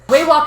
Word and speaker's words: Waywalk: Waywalk. 3 syllables. Waywalk, it was the gnome that you purchased items from.